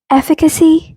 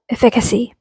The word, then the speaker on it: efficacy: to confuse anyone but the right way to pronounce this word is efficacy not efficacy sorry my bad